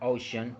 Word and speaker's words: ocean: Okay, so then we have the word ocean, which is also a 2-syllable word, which are the O and shen, and the stress is located in the vowel O.